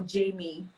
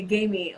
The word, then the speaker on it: Gamie: of all give me five continue am i pronouncing the name well is it gamey or jamie okay gamey okay i got it yes okay so tell